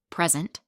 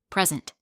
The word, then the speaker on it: present: For example, record, noun, a music record, versus record, verb, to record something, present, noun, a gift, verse, present, verb, to give something.